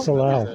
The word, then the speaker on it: salal: Salal. Okay. It's spelled S-A-L-A-L.